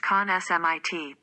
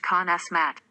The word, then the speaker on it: consummate: The adjective is pronounced con-smit, but the verb is pronounced con-smat.